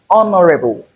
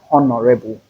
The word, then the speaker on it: honorable: This is honorable and not honorable.